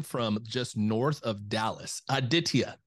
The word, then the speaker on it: Aditya: entrepreneur calling in from just north of Dallas aditia how are we doing doing great how are